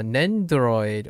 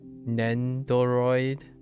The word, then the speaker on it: Nendoroid: uh English is nendroid I don't even know if they pronounce the do like it's not nendoroid it's just nendroid I think think I